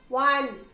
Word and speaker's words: one: Similarly, we say a 1 rupee note, a one-eyed man because one begins with a consonant sound of W. One were not pronounced as O, pronounced as W, consonant sound of W.